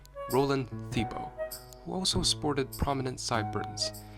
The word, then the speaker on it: Thibault: Pronounced Thibault.